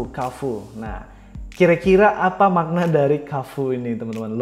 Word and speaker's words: Carrefour: dari bahasa Perancis ya Jadi kalau enggak salah nyebutnya ke full Nah kira-kira Apa makna